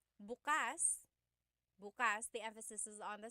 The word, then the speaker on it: bukas: If you say buas the emphasis is on the second syllable that means open. If you say buas emphasis is on the first syllable that means tomorrow.